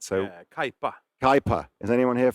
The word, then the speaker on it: Kaipa: Per's other project, which is, I called it Cappy, and you said I said it wrong, right? So yeah, Kaipa.